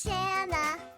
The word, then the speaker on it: Shanna: My name is Shanna. It rhymes with banana.